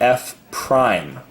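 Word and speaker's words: f′: So he didn't say that in the video, but I would write it down that this is pronounced f prime, like a prime number almost, f prime of x.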